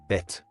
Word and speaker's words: Bett: For example, Bett. the tt indicates a doubled t sound, so it's pronounced with a slightly longer t sound, similar to holding the t sound a bit longer.